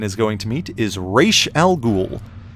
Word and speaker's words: Ra's al Ghul: So the mystical ninja Batman is going to meet is Ra's al Ghul, which should actually be pronounced Raz al Ghul in Arabic, but the character's creators